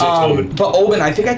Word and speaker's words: Oban: It's Oban.